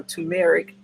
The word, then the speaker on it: turmeric: the kitchen and then i have my turmeric a tumeric some people pronounce it that way so these two